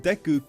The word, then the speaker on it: Deku: I realized that Deku could be pronounced in French as Deu which means of ass.